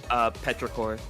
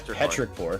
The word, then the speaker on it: Petrichor: Pet Richer, or however you want to pronounce it. It's Petrichor. Petrichor? Okay, cool. Yeah, Petrichor.